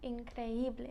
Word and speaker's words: increíble: Increíble. Increíble. And why is it not incredible? Because there's an accent.